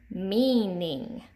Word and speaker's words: meaning: We have EA pattern, meaning, and mistreat. Meaning, you hear that long E in the first syllable.